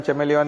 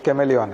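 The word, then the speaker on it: chameleon: कैमेलियन को भी चेमेलियन बोलते हैं। पूरे इंडिया की कॉन्वेंट स्कूल की सारी मैडम चेमेलियन ही पढ़ाती हैं, जबकि वो कैमेलियन है।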